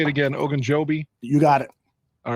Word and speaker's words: Ogunjobi: Ogunjobi?